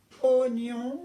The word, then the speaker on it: oignon: L'oignon, comme je vous disais, ça se prononce oignon, mais ça se dit oignon, mais ça s'écrit oie.